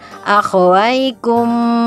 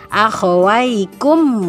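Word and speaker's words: أخويكم: dengan Wow uh nah ini namanya bacaannya adalah izhar syafawi dibaca jelas begitu maka tidak boleh lama-lama harus langsung ah hykum wah salah kalau dibacanya akhowaikum Wah itu sana harus jelas langsung akhowaikum way gitu jadi untuk bacaan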